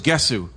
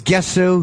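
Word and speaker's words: Gesù: I'm the one that told Jimmy that the way to pronounce Jésus Theater is Jésus, because you thought it was Gesu. I thought it was Gesu, But that's a group from Jisoo.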